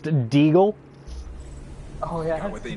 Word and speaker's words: deagle: We don't call them desert eagles when they're gold. It's pronounced deagle.